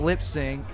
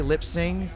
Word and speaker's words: lip sync: you haven't I don't lip sync uh I say lip sing but it's lip sync you know I don't